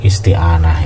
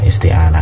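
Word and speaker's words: استعانة: apa ini bacanya ya, isti'anah ya, isti'anah. Kalau antum hafal tasrif, apalagi kalau yang fi'il mu'tal, insyaallah langsung nyantol ini. Ini cuma ada satu kemungkinan baca, yaitu dari bab istaf'ala yastaf'ilu.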